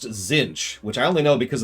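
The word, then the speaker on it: Tzeentch: Because it's not spelled how it sounds at all. T-Z-inch, Zinch.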